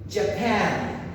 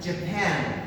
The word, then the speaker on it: Japan: Japan, Japan. Remember very well the accent. It's not Japón en español, siempre tiene el acento en la última, igual en inglés.